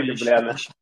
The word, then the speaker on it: Любляна: А ты как-то некрасиво называешь. Ударение ставишь некрасиво. Вот еще Любляна.